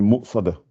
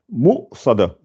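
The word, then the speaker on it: مُؤْصَدَة: Innaha alayhi mu'sada. Là, vous êtes obligé de prononcer le hamza. Voilà, vous la prononcez bien, elle est là. Ça fait mu'sada.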